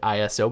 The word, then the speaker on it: ISO: Used to be called ISO. Actually, it was never called ISO. We used to call it ISO, but it's pronounced ISO.